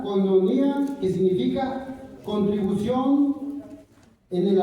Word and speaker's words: koinonia: Y miramos que había un compañerismo que en la palabra griega, hermanos, se dice o se pronuncia koinonia, que significa contribución en el alivio, compañerismo espiritual.